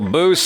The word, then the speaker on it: Boos: I am Jabby Kaway, joined by Boos. Hello, hello. Rhymes with moose. Kind of also has a rhyme with noose as well.